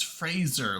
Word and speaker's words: Fraser: It's Fraser, like laser, Yeah.